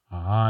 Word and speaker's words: Phacelia: It's Phacelia. In other words, I was completely mispronouncing it.